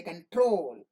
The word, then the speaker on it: control: the first syllable so when the accent falls on this one we call contact Convoy concave constant and console and when accent does not fall on it it falls on the second syllable you say control condition continue convey communicate so that